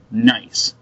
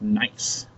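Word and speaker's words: gneiss: the metamorphic rock called nice the G is actually silent so we don't pronounce the G it's like the word gnome it's just nice nice so look at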